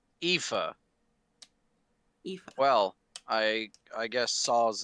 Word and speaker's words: Aoife: How did you say her name is pronounced? Aoife. Aoife.